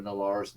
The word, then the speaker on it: Nalaar: Chandra Nalaar's name, and Dovin actually pronounces it correctly, Nalaar, which the other people there were, because the rest of her friends have basically just taken their best shot, but he said it like a native, and he's like, that